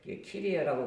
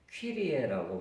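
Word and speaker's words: Κύριε: 이게 주님 할 때 혹격으로 말할 때는 키리에라고 말해야 되는데 키리에라고 발음하면 안 되고 퀴리에라고 발음을 합니다.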